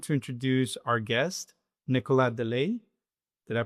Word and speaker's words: Deleye: So we're we're going to introduce our guest, Nicola De Ley. Did I pronounce that correctly?